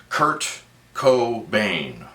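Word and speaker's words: Kurt Cobain: proper nouns and that's Kurt Co Bane that's right three syllables Kurt Co Baine um with creativity he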